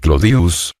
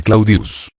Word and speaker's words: Claudius: Claudia deseoso de popularidad decía Llamar clodius que era como el pueblo la mayoría pronunciaba el nombre claudius la simplificación del diptongo